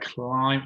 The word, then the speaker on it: climb: to here's the word CL climb over on the left hand side here climb with a silent B at the end okay next word could